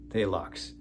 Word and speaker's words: Phthalox: with this compound called phthalox that is how you spell it palux so it was supposed